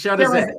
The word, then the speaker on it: Shirazé: Come on, you took French. It's Shirazé.